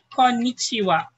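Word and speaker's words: こんにちは: Konnichiwa. Okay, same thing that applies with this rule. So konnichiwa, it means hello. Hi, yoko dekemashita. So we have konnichi. Okay, konnichiwa. Okay, but we pronounce it as wa.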